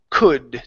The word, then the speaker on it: could: Um, and your last one here is could. Take out that L instead of could.